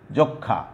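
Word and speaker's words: যক্ষ্মা: তারপরে যক্ষা, সরি যক্ষা, যক্ষা, তুমি দেখো লক্ষণ এবং যক্ষা, এখানেও ক্ষীয় ম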